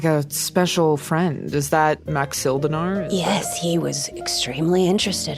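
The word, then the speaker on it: Maxildanarr: His name is Speaker, and I don't know how to pronounce this, Naerth. Narth? N-A-T... Nearth. Nerth? Nerth. Nerth. Okay. Nerth Maxil Danar.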